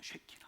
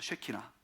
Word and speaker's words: 쉐키나: 쉐키나. 한번 따라합시다. 쉐키나. 뭐 설교 제목이 이렇게 그냥 발음 잘해야 돼요.